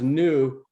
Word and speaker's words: Neu: a play on words the Neu you know pronounced new but it's a play